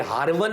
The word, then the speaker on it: हारवन: एक कस्बा था ईरान के अंदर उसको हारवन कहते हैं। आमतौर पर लोग इसको मिस प्रोनाउंस करते हैं। ये हारवन है जगह और आपके मुर्शिद करीम ख्वाजा उस्माने हारवनी लोग इसको हारूनी पढ़ते हैं।